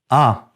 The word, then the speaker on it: un: Un is pronounced as un by most French speakers in France, including Paris, but not in Canada. You hear a distinct sound in Canada.